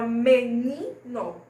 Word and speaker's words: menino: Como, por exemplo, a palavra menino. Não tem acento, mas o ni é forte.